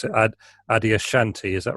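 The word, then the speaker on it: Adyashanti: know if this is the right way to pronounce it adi ashanti is that right yeah yeah an american spiritual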